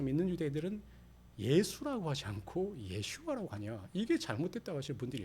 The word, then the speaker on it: 예슈아: 그 그 당시 예수님의 이름은 예슈아라고 발음됐죠. 근데 이것이 이제 번역 번역 번역을 통해서 우리나라는 예수라고 부르는 거예요.